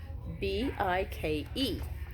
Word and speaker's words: bike: B-I-K-E, B-I-K. So you'll say I. You'll say I for the I sound, and then the E is silent.